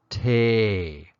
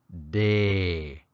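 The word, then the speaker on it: တယ်: about in this lesson it's pronounced Tay or more often day and I'll explain how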